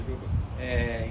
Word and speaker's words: Jhovan: No FrangoCast de hoje nós temos aqui o Giovan. Giovan? Pronúncia Giovan.